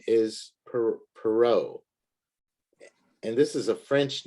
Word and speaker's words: Perrault: the chapter and then um another name is perrault and this is a french name so it's a it's a funny pronunciation for the spelling but let me give